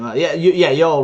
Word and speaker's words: Yoel: senior execs at Yoel, which how do you pronounce his name? Yoel Roth.